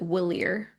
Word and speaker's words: Walyre: in my brain, I pronounce it Willier.